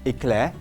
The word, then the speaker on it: éclair: So éclair, so pronounce it correctly, éclair.